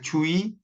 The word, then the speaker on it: 주의: 그다음 둘째 단어의 첫 음절 의, 이외의 의는 이로 발음한다. 그러니까 주의, 협의 이게 아니라 주의, 협의. 그러니까 첫 음절 이외의 첫 음절 이외의 의는 첫 음절 이외의 의 발음이죠. 이건 이로 발음한다는 거예요.